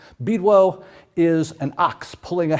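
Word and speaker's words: Bydło: a little bit about is bidwell mostly mispronounced it's actually a polish name beedwell is an ox pulling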